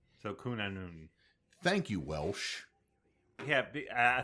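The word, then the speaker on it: Cŵn Annwn: And a n w n is pronounced anon. So kunon.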